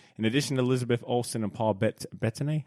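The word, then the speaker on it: Bettany: in addition to Elizabeth Olson and Paul bet betan how do you say Paul betney betney thank you so much uh reprising the roles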